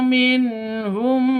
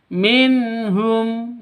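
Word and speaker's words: مِنْهُمْ: Wa akhadzna minhum mqon minhum. Di sini ada nun mati bertemu dengan ha. Cara bacanya jelas, tidak boleh disentak, tidak boleh didengungkan. Minh salah, Minum juga salah. Yang betul minhum.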